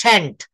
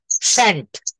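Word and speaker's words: shan't: হ্যাঁ, এইখানে শ্যাল নট কে উচ্চারণটা করবেন শ্যান্ট, শ্যান্ট।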